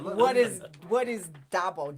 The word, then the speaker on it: DABO: what is what is Dabo d-a-bo is how we pronounce it yeah the Detroit